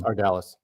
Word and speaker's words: Ardalis: Ardalis. Ardalis. Okay. You sure it's not like French, like Ardalet?